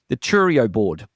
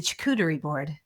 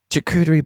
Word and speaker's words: charcuterie: Am I pronouncing it wrong? A Churio board is not it. No, it's a charcuterie board. Charcuterie board. Charcuterie. So the close. Charcuterie. Yes, the charcuterie board.